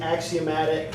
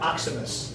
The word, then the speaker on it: axiomatic: word of the day it is axiomatic not oximus thank you for telling